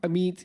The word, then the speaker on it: Amit: Uh Ameet is very dear to me. I think that's what resonates with with me, so I often tell people that's how to pronounce my name.